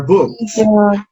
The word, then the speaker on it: books: Contracción, they are, they're books.